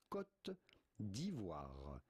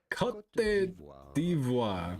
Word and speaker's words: Côte d'Ivoire: In French with the typical French pronunciation, Côte d'Ivoire. Côte d'Ivoire.